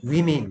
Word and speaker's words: women: 발음이 어떻게 된다 했더라? women 된다 했죠.